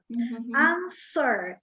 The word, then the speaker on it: answer: and i'm happy everyone there are many many cases in english in which letters are not pronounced answer as if the w didn't exist answer i just i